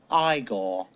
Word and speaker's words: Igor: i see you must be igor no it's pronounced igor but they told me it was igor well they were wrong then weren't they marty